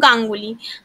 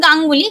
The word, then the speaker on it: গাঙ্গুলি: দেখুন, উত্তর, বাঙালি পদবীর ইংরেজি ধরনের উচ্চারণে হস্রস্বর চিহ্ন হবে, উদাহরণ হলো গাঙ্গুলি। গাঙ্গুলি দীর্ঘকার হবে না, ও চ্যাটার্জি, চ্যাটার্জিও দীর্ঘকার হবে না। অর্থাৎ গাঙ্গুলি, গাঙ্গুলি শব্দটা দেখুন দীর্ঘকার